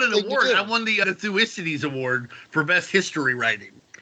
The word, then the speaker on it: Thucydides: Thucydides. Damn. All right, it's like THU and then the Y like it's an I. Thu is Cides. It looks like side, C-I-D-E-S, but Thucydides.